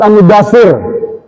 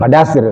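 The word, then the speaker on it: المدثر: Baca lagi surat Al-Mudaththir, bukan Padasir, surat Al-Mudaththir ayat 4.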